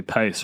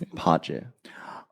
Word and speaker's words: Pace: It's not actually pace, right? How's it pronounced? Pace.